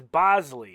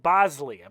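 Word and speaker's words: Boushley: with this one because it's not spelled the way it's pronounced you see that b o u s h l y but I think it's Bosley is how it's pronounced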